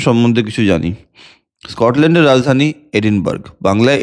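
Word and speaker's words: Edinburgh: স্কটল্যান্ডের রাজধানী এডিনবার্গ। বাংলায় এডিনবার্গ লেখে কিন্তু একচুয়াল উচ্চারণ হচ্ছে এডিনব্রা।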